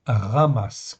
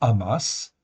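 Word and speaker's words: חמס: Ça se prononce ramasse, comme si c'était un R en fait au début.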